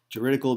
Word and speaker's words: juridical: Juridical means within the legal sense.